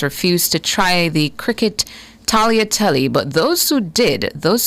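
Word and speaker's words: tagliatelle: of the diners refused to try the cricket talotate. But those who did, those who do, including me, are surprised at how good it tastes. Talia telly is your word of the day.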